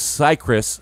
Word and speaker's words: Cicrus: So how long is Cicrus?